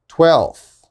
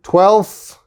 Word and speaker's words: twelfth: with native speakers is we don't pronounce the f we just skip it so for example if